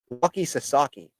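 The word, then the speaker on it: Roki Sasaki: it's Walky s Walky sasi Ben no wa Walky Sasaki that's I still like he suaki but I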